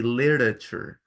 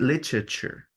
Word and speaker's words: literature: In English, in American English, you would simply say literature. literature. It's like the TE are mute. Como que la TE no se pronuncian. Literature. Okay? But literature in British.